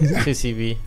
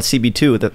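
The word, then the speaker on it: 2C-B: Listen, CB2, I'm not going to say your shit on someone's... 2CB? How do you say it? 2CB. I was calling it CB2.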